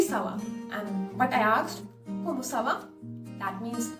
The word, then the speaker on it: comment ça va: Then, second I asked, comment ça va? You notice that intonation? Ça va? Comment ça va?